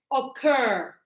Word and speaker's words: occur: So here we say occur occur. You can see the stress is cur.